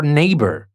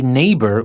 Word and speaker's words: neighbor: and the same for neighbor we say neighbor we don't say ne we say neighbor NE e i GH but the g is silent and we say neighbor and in rain we